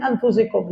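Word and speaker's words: أنفسكم: Yang mana Rasulullah ini dikatakan oleh Allah min anfusikum. Laqad ja'akum rasulun min anfusikum. Telah datang kepada kalian seorang rasul dari kaummu sendiri, dari golonganmu sendiri. Ya, kalau dibacanya fa-nya didhammahkan, anfusikum, dari kaummu sendiri.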